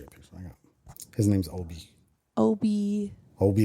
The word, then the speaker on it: Ohbee: His name's Obi. Obi like Obi-Wan Kenobi. Like Behave. But we spell it behave.